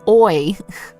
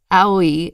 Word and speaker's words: Aoi: How to pronounce Aoi in Japan is A-O-E. Yeah, exactly. Oh, wait. A as in car, O as in sorry, E as in see. Aoi. Okay, so maybe not owie, but aoi.